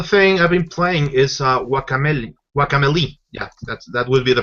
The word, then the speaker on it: Guacamelee: The other thing I've been playing is Guacamelee. Yeah, that would be the proper pronunciation.